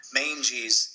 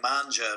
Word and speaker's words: Mangies: They actually were referring to like the mange of a dog, like the Mangies. A lot of people thought it was like manja because, they're Italian, but yeah.